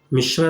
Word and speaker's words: मिश्र: आ नहीं आ है, वैसे बोल रहे थे मिश्रा, मिश्र है वो, आ नहीं आ है।